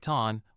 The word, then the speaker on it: ท่าน: Pronounced like ton, rhymes with barn but with at.